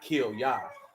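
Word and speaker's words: Kilyah: Not like kill Yah, but the word is spelled K-I-L-Y-A-H. And you pronounce it kill Yah.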